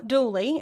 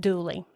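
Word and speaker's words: Dula: Tom Dooley, and that is actually spelled Doula, D-U-L-A, but this is the Appalachian Mountain area, and so everybody pronounces that Dooley.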